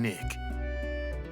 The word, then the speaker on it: Nyx: And the X is pronounced as K in Nick.